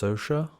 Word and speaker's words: Saoirse: I watched See How They Run, which is the, I believe her name is pronounced Sosha.